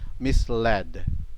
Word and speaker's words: misled: The spelling is misled and the pronunciation is misled.